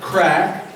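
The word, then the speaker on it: craic: And now Tom wanted us to have a little bit of crack. Does anybody here know what crack means? It's spelled C-R-A-I-C.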